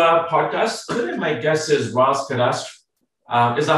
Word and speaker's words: Ross Cadastre: guys welcome to uh podcast my guess is ross could ask um is that how you pronounce it russ could ask right yes you got it you nailed it